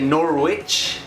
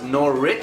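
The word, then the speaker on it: Norwich: be saying it different I know I used to say nor witch and I know now it's nor Rich so maybe if I'm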